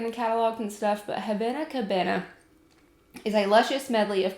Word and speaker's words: Havana Cabana: I can't even pronounce the name wrong, but Havana Cabana. I keep adding another N in that word.